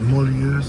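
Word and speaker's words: Mulhouse: They pronounce it muluse.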